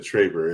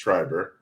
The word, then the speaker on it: Triber: And earlier I said Traber. It's Triber.